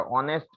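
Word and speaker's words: honest: क्योंकि एक तो सिंगुलर है और ऑनेस्ट एच से शुरू होता है, लेकिन अ एच है, लेकिन उसका उच्चारण है जो प्रोनाउंसिएशन है वो अ से होता है, इसलिए यू आर एन ऑनेस्ट student.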